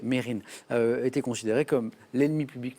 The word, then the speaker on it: Mesrine: de police à vue mesrine et puis on s'est rendu compte finalement que lui-même le prononcer mérine était considéré comme l'ennemi